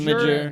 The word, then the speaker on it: Imgur: Is it Imgur? Yeah, I think so. Imgur? I don't Okay. know. Hotmail. Do you guys call it Imgur or some people say Imgur Imager. or Imager? How do you guys pronounce that?